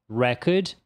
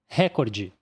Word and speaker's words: record: E essa aqui, olha só, repara que nessa aqui a sílaba tônica vai mudar. Então, primeiro a gente tem record, que significa recorde, enquanto a outra pronúncia é record, record, que significa gravar.